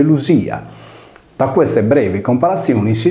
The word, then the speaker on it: Lydia: illustrare nella prima lezione, il nesso D più I più vocale all'interno di parola si leggeva come una S sonora. Poiché anche in questo caso troviamo la vocale Y, il nome latino diventa Ludia, confermata dal greco antico Ludia, che si legge Lusia.